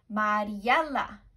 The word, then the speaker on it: Mariela: How many sounds do you hear in Mariela? Let's try the syllables. Let's listen to the syllables and let's clap to them, okay? Mariela. How many was that? Let's try it again. Ready? Mariela. Four syllables.